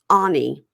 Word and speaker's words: Any: girl named Anie, but it's spelled any a n y like any day of the week. I've seen that. I don't know if it was a character in a book or something like that, but I I've seen that before. But it's anie. A n y. And so I now I just write it a h nee. So that I'll say anie.